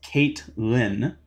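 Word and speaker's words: Caitlyn: Also, it's pronounced Kate Lynn. Lol. It's chill. People get all the time. Okay. If it was a K instead of a C, I think it would have been more intuitive.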